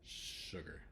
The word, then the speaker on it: sugar: s for some reason the S and sugar it's sugar it's a little bit of its own unique sound that doesn't really exist